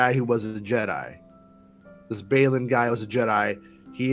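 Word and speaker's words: Baylan: But so with this dude, Ray Stevenson's character, it rhymes with Babylon, but it's Balin. Balin. Mow your lawn, Balon.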